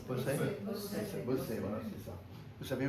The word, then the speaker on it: Bossey: Comment on prononce Bossey. Bossey, voilà, c'est ça.